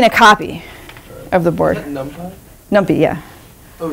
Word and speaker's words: NumPy: array is called NumPy, N-U-M-P-Y, which I pronounce NumPy. I don't know if what you're supposed to pronounce it as, but I think NumPy is more fun sounding than NumPy.